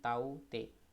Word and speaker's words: Tauktae: इसको अगर हम प्रोनाउंस करें तो इसको प्रोनाउंस करेंगे तो इसको हम पढ़ देते हैं ताऊ ते।